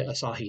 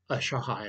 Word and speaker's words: Asahi: the asahi optical corporation which i mispronounced in my previous video but it's apparently asahi not a shahi or whatever i said before takamar lenses have